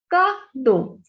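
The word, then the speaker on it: cadeau: Next, when we add B with EAU, the pronunciation will be Bo. Bo is handsome. Next, Kado.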